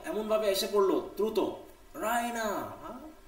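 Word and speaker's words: Raina: রাইনা, she pronounce ইট রাইনা, দেখো একটু টেনের উচ্চারণ করলো, with that stress on দ্য ই, মানে খুব আকর্ষণীয়, খুব আবেগে বলতেছে, হ্যাঁ, রাইনা।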